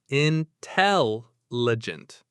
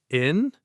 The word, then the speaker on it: intelligent: It has 4 syllables. Where is the stress? It's on the second syllable. Tell. Intelligent. Let's say it slowly. Intelligent.